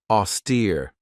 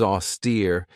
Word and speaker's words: austere: Austere. This has two syllables and the stress is on that second syllable with that long e sound. Auster. If somebody or something is austere, it means that they're very severe in their manner.